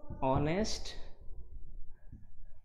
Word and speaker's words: honest: Though while writing it, we cannot avoid this alphabet H, but while pronouncing it, it seems it is missing. You see, vowel sound is coming out, honest, it is O.